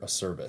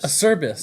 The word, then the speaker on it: Acerbus: The way that I say it is Semper Acerbus. Acerbus. Okay. Yeah. Okay. I think that's the right way. Yeah. Almost sounds like service.